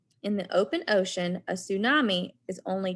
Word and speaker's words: tsunami: The name scientists use for this kind of wave is tsunami, pronounced tsunami, a Japanese word for sea wave.